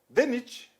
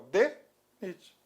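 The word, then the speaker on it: DNIT: Exemplo, DENIT. Ó, DENIT. O que é mistura simples, né? D, você falou separadamente. Aí, ó. O D, pronúncia separada. Ok? NIT, conjunta.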